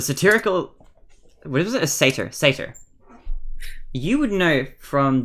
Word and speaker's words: satyr: Satyr? I'm gonna say satyr. Satyr. It's Satyr. Satyr, okay. I was saying satyr like satirical, but that's... I didn't feel right.